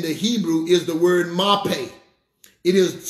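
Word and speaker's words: מרפא: The word health that's used here in the Hebrew is the word mape. It is spelled M-A-R-P-E. It's pronounced mape.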